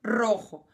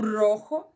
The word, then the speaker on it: rojo: aí de novo o Rojo ó o J aí da rarra a última aula Nós aprendemos a falar a jarra como rarra E agora vocês vão encontrar o J de novo no Rojo apesar de ser um